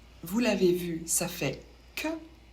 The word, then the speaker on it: que: l'avez vu ça fait que on ne prononce pas le U et le E se prononce e ça fait que attention